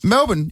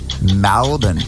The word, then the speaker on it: Melbourne: Why do they say Melbourne? It's Melbourne, not Melbourne.